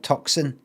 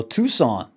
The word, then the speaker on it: Tucson: Ah look while our regular Crystal Wizard team was away at the Is it how do you say that? Tucon it's not it's not Tuxen Tucson. Is it Tucson? Oh, Tucson gem show.